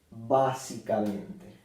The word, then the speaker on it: básicamente: otra sílaba más y se acentúa en esta sílaba básicamente bueno Esta es una